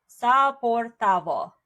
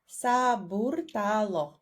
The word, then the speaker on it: Saburtalo: Saportavo. Saburtalo. Saburtalo. Yep. I completely mispronounced it.